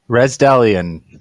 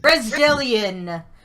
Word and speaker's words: Resdellon: Resdellon. Resdellon.